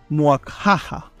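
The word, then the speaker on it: muaxaja: comentaba, que se llamaba Muakjaja. Tiene una X, por eso pronuncio la X también como J.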